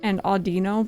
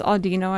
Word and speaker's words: Audino: I've heard and I've said both Autino before. I guess Audino actually makes sense cuz audio I'll I'll flip-flop.